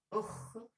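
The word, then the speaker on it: خ: The first one is Ha, Ha, Kha, Kha, and the third one is Jim, Jim, J, J. Ha, Kha, Jim, and this is another. This is another order. It's different. Kha, that's Kha. Ukh, we pronounce it like Ukh.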